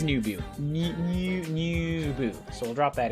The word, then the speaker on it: 入部: I need to know if I'm saying it correctly. Nubu. It is Nubu.